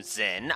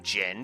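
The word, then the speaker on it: Jin: Jyn is still a bro, and I will not call him Zen. I will call him Jyn because that is the correct pronunciation.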